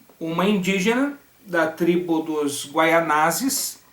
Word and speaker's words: Guaianazes: Ele acabou se casando com uma indígena da tribo dos Guaianazes, alguns preferem pronunciar Guaianás, então da tribo dos Guaianazes, e a partir disso é feita uma aliança entre os portugueses e os Guaianazes, ok?